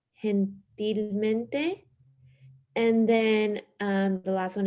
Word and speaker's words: gentilmente: So the G in Spanish has like an H sound. So it's like gentilmente.